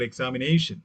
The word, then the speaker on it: examination: For example, examination. Whenever any word that ends with the shen sound, T-I-O-N, shen sound, we call it, the just previous syllable will be stressed.